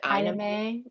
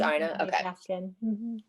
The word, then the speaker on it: Aina: you say her name is it anime it is aina and randomly we were